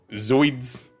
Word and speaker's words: zooids: Siphonophores are colonial organisms made up of smaller organisms called zooids. That's how you pronounce that, by the way.